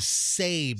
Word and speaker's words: Sabe: A listener and fan of the program named Sabe. Sab rhymes with Gabe.